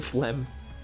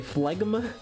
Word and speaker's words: phlegm: The phlegm. Oh, is that how you pronounce that? What did I say? Phlegma? Why couldn't it just be pronounced like that?